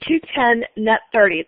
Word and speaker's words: 2/10, n/30: Now, when we have a typical sales terms or financing terms, you might see 210 net 30.